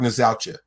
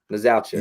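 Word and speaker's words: Nzeocha: How do you say it? I always get. I say Mark Nazaucha. Nazaucha. Yeah, Nazaucha. Like, so I could be completely wrong, but that's the way it's spelled, Nazaucha.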